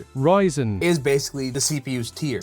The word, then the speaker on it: Ryzen: So, Ryzen.